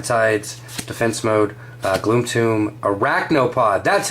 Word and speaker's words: Arachnopod: Eye of the Tides, Defense Mode, Gloom Tomb, Arachnopod.